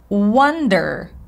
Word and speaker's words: wonder: wondering by the way don't confuse the words Wonder sound uh same as schah W what wonder